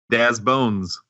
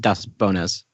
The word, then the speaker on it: Daz Bones: Daz Bones. Brooke. That's right. He's Bones. I mean, not to rain on your parade, David, but it's technically pronounced Das Bonas.